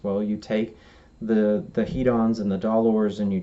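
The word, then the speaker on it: hedons: the scale are called he Don's and in the negative side they're they those are called dollars now he Don's is spelled HED ons and dollars is spelled DOL ors and you can just hear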